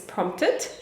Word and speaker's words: prompted: Very often we do not pronounce the P, the second P, it's prompted.